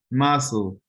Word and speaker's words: muscle: keep saying it wrong i want to pronounce this that c but it's not there it's silent muscle okay i'm sorry why